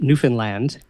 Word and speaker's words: Newfoundland: So a very good friend of mine, Anne Fizard, she's from Newfoundland, and I was told that's the proper way to pronounce it, by the way, is a cartoonist.